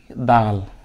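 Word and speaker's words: دال: আমরা এটাকে কে বলি দাল এটাকে আমরা বলি দ আকার লাম নরমালি দাল উচ্চারণ করি আমরা দাল যদি এই হরফের আকার যদি এভাবে খালি থাকে তাহলে হবে দাল কি হবে দাল দাল দাল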